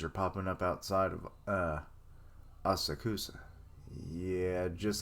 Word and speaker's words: Asakusa: Asasuku, or Asakusa. That's it.